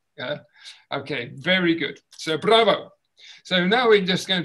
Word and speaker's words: bravo: Bravo! Bravo! Yes, fantastic. Well done. Okay. Right, now when we say bravo, you can hear that you've got to roll your r's with your tongue.